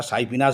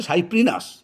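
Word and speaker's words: Cyprinus: বলি আমেরিকান রুই সাইপ্রিনাস সাইপ্রিনাস কে আমরা সাইফিনাস বলি একচুয়াল উচ্চারণ হচ্ছে সাইপ্রিনাস কিন্তু আমরা সাইফিনাস বলি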